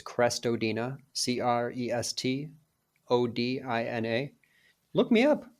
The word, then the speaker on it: Crestodina: best social network uh my last name sounds like it's spelled or spelled like it sounds it's crestodina c-r-e-s-t o-d-i-n-a look me